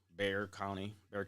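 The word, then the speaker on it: Bexar: uh, I think it's Brexer. I don't know how you pronounce it. Bear County, because it was with an X, but you don't pronounce the X.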